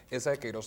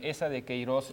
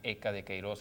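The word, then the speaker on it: Eça de Queiroz: Esa de Queiroz, a veces lo pronunciamos Eca de Queiroz erróneamente, porque no sabemos cómo se pronuncia esa letra que está en esa letra que es como una letra C, con una comita que se llama virgulilla, si no me equivoco.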